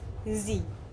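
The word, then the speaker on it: sie: It is S and she is Z.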